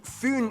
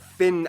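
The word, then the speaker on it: Fyn: for mason it is connected to foon island not finn island by the great belt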